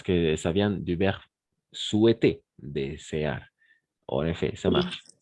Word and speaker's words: souhaiter: Voilà, souhaiter. N'oubliez pas, le H est muet. H muet, souhaiter.